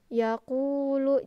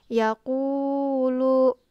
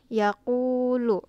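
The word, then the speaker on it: يقول: Alif artinya dua harokat betul bacanya yaqulu tapi jangan terlalu panjang juga karena dia cuman satu Alif atau dua harokat gitu Jadi jangan terlalu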